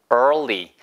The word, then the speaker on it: early: We don't have to leave early. 이거 생긴 거는 에, 아, 알, 을, 그 다음에 y. 이렇게 써 있잖아. 이게 발음이 되게 어려울 것 같지만 그냥 해보세요.